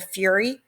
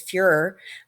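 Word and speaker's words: Führer: Bruno says that he has the fury over for dinner that's a mispronunciation for him he really means Fuehrer and we can tell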